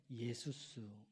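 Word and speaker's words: Ἰησοῦς: 시대에 흔하게 있었던 이름이에요 헬라어로 정확하게 발음하면 예수스 헬라어로 정확하게 바라하 예수스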